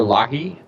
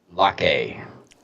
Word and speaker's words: Locke: police shooting of Amir Locke. Hennepin County Attorney Michael Freeman and Minnesota Attorney General Keith Ellison announced Wednesday. I think it's just a mere lock. I think the E is silent. Locke.